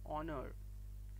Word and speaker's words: honor: the exception is that the first letter of the word honor for example is a consonant but it is unpronounced in spite of its spelling the word honor begins to sound like a vowel sound therefore we use an